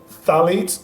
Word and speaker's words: phthalates: no one is so you don't pronounce their pH it's just stallions so one thing I learned in your book phthalates of the chemicals that